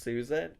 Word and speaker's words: Suzanne: So, her name is Suzanne, but it's pronounced Susan.